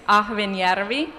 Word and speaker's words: Ahvenjärvi: como un papelón lo hiciste muy bien es a joven y harvey y te salió casi perfecto yo lo que